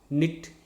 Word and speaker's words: knit: And this K also happens silent in no, KNOW, knee, KNEE, knit, KNIT.